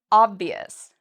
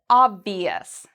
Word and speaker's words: obvious: The last word is obvious. So we look at the letter before ious, it's a V. It's not one of our special letters, which means we pronounce it ious. Obvious.